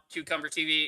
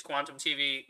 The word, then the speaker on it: Quantum TV: said please you know don't say the name wrong it's not cucumber tv it's quantum tv make sure it's you